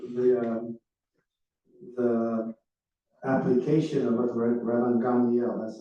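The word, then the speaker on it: Rabban Gamliel: So the the the application of what Raban Gandiel, that's how you you pronounce his name, said is very intriguing when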